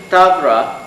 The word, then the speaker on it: Tavra: According to tradition, Tavra, pronounced thus in Western Armenian but spelled Davra with a da, not a dun, derives its name from